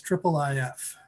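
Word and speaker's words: IIIF: uh and and yeah the official pronunciation it's in the spec is triple if just so everyone knows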